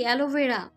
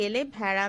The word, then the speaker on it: অ্যালোভেরা: অ্যালোভেরা দাদি, অ্যালোভেরা। মেহেরুন্নিসা উচ্চারণ করার চেষ্টা করলেন, থেমে থেমে উচ্চারণ করলেন, এলে ভেড়া। এইটা আবার কি? দাদি, এলে ভেড়া না, অ্যালোভেরা।